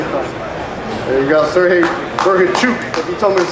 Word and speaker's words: Bohachuk: There you go, Serhii Bohachuk. If you told me to say his name, it's a Chuk at the end, right?